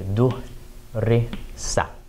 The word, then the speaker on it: دُرِسَ: was studied, we would, instead of saying darasa, fatha, fatha, fatha, say duhrisa.